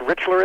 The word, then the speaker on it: Richler: enough I'm a big fan of oh it's pronounced Richler is it mister yeah that's right but boy